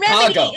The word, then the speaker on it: Remedy: Remedy. It rhymes with comedy.